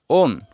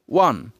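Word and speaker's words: won: উইন এর past form অধিক অংশে বলে থাকি ওন কিন্তু এটা সঠিক উচ্চারণ নয় উইন এর পাস্ট ফর্মের উচ্চারণ হবে ওয়ান পাস্ট পার্টিসিপল ফর্মের উচ্চারিত হবে ওয়ান রিড যার বাংলা অর্থ পড়া রিডের পাস্ট ফর্ম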